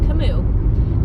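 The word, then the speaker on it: Kamut: it and there is spelt and there is cimu which is actually spelled k a m u t but it is pronounced anounced cimu those are Ancient Grains and I'm sure there's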